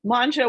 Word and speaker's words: Mongeau: director of the malden chamber of commerce um manja was not an easy name to pronounce so i appreciate you're handing the mic